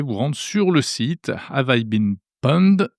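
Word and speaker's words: Have I Been Pwned: Bien, vous pouvez vous rendre sur le site Avaibin Pond, ça s'écrit PWND, je vous mets l'adresse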